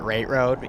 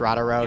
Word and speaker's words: Rata Road: We were just talking about how Bar pronounces it Rate Road, even though it's Rata Road.